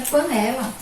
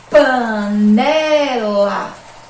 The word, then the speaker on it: panela: Panela, panela. Quando a gente pronuncia a palavra, a sílaba que a gente ouve mais forte, o som ecoar mais forte, é essa daqui.